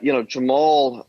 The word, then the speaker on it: Jamal: In the documentary, they pronounce it Jamal differently. Jamal Khashoggi.